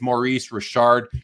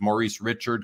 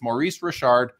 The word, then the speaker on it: Maurice Richard: was known as Rocket Rashard his name is Maurice Rashard you'll hear people who don't know that refer to him as Maurice Richard because that's fair they just don't know but it's Maurice Rashard and the rocket Rashard his brother was AI